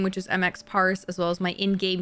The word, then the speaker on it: Emxpars: English is quite hard so it's m Parks so it's I I pronounce it MX parse as like three different things yeah it's it's actually